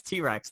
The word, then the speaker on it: T-Rex: so the amazfit T-Rex is it TX it's it's spelled T-Rex I think it's T-Rex like the dinosaur anyway why would it